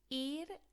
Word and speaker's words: ir: Think about it being pronounced like your ear on your head, i.e. what you listen with. It's exactly the same pronunciation as the English ear.